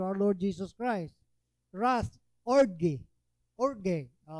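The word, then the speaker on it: ὀργή: Wrath, orge. Orge. Ang pronunciation ko noon is O-R-G-A-Y. So, orge.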